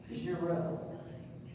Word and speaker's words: Giraud: That's his Belgium pronunciation. He was born and raised in Belgium. His family came to the United States, and they did, and you all may be familiar with Girard versus Giraud, but it is the same family.